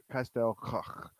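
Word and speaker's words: Castell Coch: But it's Castel Coch, how the Welsh pronounce it.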